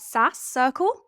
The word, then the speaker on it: SaaS Circle: SaaS Circle?